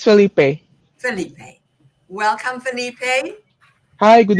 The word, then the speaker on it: Felipe: is it or Felipe? How do you pronounce it? Uh, it's Felipe.